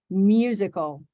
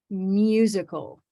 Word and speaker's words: music: y right there and can you hear there's there's a little y right there music now if